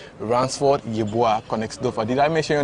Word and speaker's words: Ransford: German national team he goes by the name ransford did I mention your name very well yeah